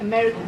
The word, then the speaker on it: America: What can we reduce? Okay, good. The I. So, mera. Anything else? Right. Everything except for the men. America. It's not that they mumble, it's just that there aren't any sounds there. Aren't any vowels.